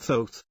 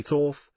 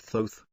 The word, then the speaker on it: Thoth: is a man named thoth pronounced with a long o someday people say thorf but he pronounces it thoth the hieroglyph shows his